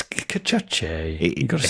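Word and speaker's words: Cacace: Yeah, it's interesting how you seem to pronounce Liberato Cachachi different every single time you get round to his name, but it's Cachachi.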